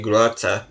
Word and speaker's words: Grote: I mispronounced his name. I kept on saying Grote, but it's not. It's actually Grote. Because he doesn't have the umlaut over the O. Yeah, so it'll be Grote, not Grote.